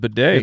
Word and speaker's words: Beatty: It's spelled and looks that way, and But then now it's now pronounced bidet.